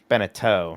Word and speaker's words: Beneteau: Benetow says, or Beneteau? Yeah, Rhymes with Bo? Beneteau, yeah.